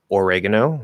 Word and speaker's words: oregano: so oregano oregano oregano now you say oregano you say or it will commonly reduce to er it's just the easiest way to do it you can actually just not even do an er vowel which is a little bit longer you do an er consonant like oregano oregano in fast speech but yeah usually er